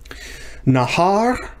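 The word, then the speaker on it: נהר: Nahar, notice it's the second, not the first syllable that's accented, so this is not a segholate.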